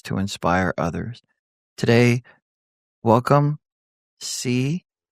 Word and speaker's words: CZK: Today, welcome CZK, right?